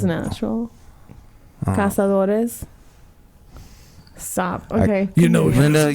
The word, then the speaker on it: Cazadores: You got to roll your R's, man. Casadores. Casadores. Okay. I just find that interesting because Because it's natural. Cazadores.